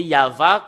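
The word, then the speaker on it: יהוה: le lire selon la Sainte Écriture hébreu c'est yava qu'on le prononce et vous pouvez pas lu faire une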